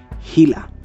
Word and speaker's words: Gila: Its name is pronounced as Gila.